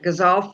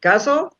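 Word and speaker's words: ghazal: I was um I was especially interested in your choice of the gazal form. I I guess I'm not pronouncing it right. Gazle. Gazal. Um ways to say it.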